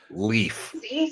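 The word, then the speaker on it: Leif: Chad, pronounced leaf. Pronounced leaf. Ha. Ha. Well, it's a Nordic name.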